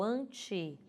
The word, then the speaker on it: ante: O ante, que é grafado com E, porém pronunciado com I, ele tem um significado, significa antecipar, ou aquilo que vem antes.